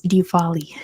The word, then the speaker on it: Diwali: Lights better known I did double check the pronunciation of this and I do know how to say it now it is Diwali good job to Veer the answer is Diwali